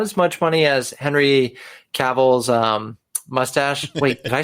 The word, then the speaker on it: Cavill: Not as much money as Henry Cavill's mustache. Wait, did I say it right, Bryan, or did I say it wrong? No, Henry Cavill, You're good.